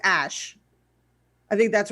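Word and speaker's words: Æ: okay i'm um it's the ae symbol is pronounced ash i think that's right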